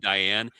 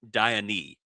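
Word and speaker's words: Diané: I thought it was Kareem Diane. It's actually Kareem Diane. Oh, so I am sorry. It's just he's got the accent over the E, and I heard him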